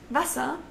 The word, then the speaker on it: Wasser: Or in Wasser, it's S.